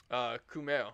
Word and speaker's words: Kumail: Kumail.